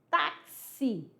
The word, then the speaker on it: táxi: Então aí na palavra tax você vai perceber que aí, ó, tem um som do T, do a, do K, do S e do I. Taxi.